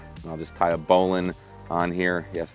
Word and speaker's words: bowline: And I'll just tie a bowline on here. Yes, it's pronounced bowline, not bowline, Josh.